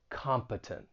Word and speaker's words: competent: his job for pronunciation the stress is on that first syllable and the final syllable has that schah sound that uh sound competent say it with me